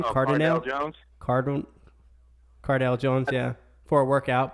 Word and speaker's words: Cardale: you say his name Carter nail card room Cardale Jones yeah for a workout but that doesn't